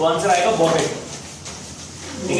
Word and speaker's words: bougette: देखो बजट जो है एक फ्रेंच वर्ड है बॉगेट, फ्रेंच वर्ड है ये, इससे डिराइव्ड है बॉगेट, ठीक है।